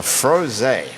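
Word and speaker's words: Frosé: is the home of the froze a which is spelled F R OSE with the thing on top of that in the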